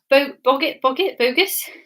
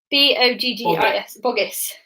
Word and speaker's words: Boggis: The names are, I haven't tried to say this, Bogus? I can't say his name. Bruce and Bean. Boggis.